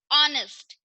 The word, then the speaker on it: honest: ऑनेस्ट, ऑनेस्ट मतलब ईमानदार, तो इसमें एच क्या है, दोनों वर्ड में साइलेंट है, तो इससे पहले भी क्या यूज होगा, एन यूज होगा।